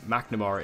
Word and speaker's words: McNamara: Well, if you've been keeping up with the news on Arrow, you will know that recently Katherine Mcnamara, or McNamara is how you pronounce it, I always pronounce it wrong, but Katherine McNamara has